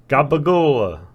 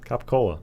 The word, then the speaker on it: capicola: Yeah, he's trying to say capicola, but he's saying like gabagola. What? Yeah, he's talking about the cured meats, you know, capicola. Oh my gosh. But it's like he's decided that's how Italians pronounce it, but it's not even fucking close.